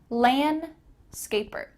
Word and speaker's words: landscaper: gardener i'm a landscaper notice the d here is kind of cut out lan scaper i'm a landscaper the next job category